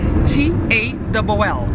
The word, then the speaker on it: tall: Então quando eu falo que uma pessoa é alta, a gente spell T-A-L-L.